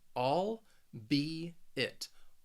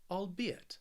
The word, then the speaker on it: albeit: pronounce it is that you can really break this word into those three syllables and pronounce the word the the way it looks all be it albeit albeit the next word